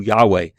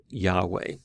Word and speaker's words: Yahweh: the consonants yhw H if you do that you get something close to Yahweh and so that would be the way we would pronounce it most likely although we can't be